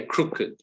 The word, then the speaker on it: crooked: d battered added right that's when the ed makes a separate syllable because physically in the mouth you cannot try saying with engine and try and make it one syllable you can't do it so english has shifted except for those syllables for those after those letters where it's physically impossible okay that's why we say crooked just exploring this word